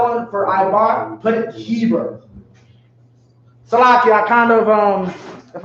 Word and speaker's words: Heber: Like Hebrew, but Heber.